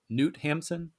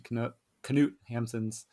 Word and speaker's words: Knut Hamsun: Is it Newt Hampson? Do you know how? K-N-U-T? I think they do pronounce the K. Yeah. So it says, Ask the Dust contains thematic similarities to Knut Hamsun's 1890 novel Hunger.